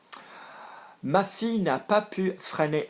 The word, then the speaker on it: freiner: Notice the pronunciation of freiner, we've got the F-R-E-I-N-E-R, freiner, because there's an E after the M.